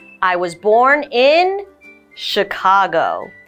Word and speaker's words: Chicago: I was born in Chicago the CH here is an sh sound so that's all we